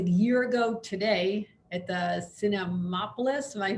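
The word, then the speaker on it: Cinemapolis: I believe we did this a year ago today at the Cinemopolis. Am I pronouncing that right?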